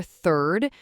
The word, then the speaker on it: third: So for third, you're going for that soft, almost airy sound at the beginning, just like you'd say think or through. Stick your tongue out just a tiny bit or touch the back of your front teeth.